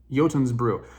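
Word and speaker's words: Jotunn's Brew: I'm using mad Vikings yotun's Brew it's spelled funny it doesn't it's not pronounced the way you think anyway yotin's Brew I got this recently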